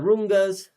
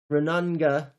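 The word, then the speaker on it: rūnanga: Westminster system turns shared governance into representative politics, where once everyone deliberated, as in the Rungas, I mispronounced that, as in the Renanga, we are now invited to choose between pre-selected rulers every few years.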